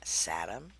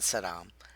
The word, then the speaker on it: Satam: Sa Satam, not Saddam, but Satam. And pronounce it whatever way you want.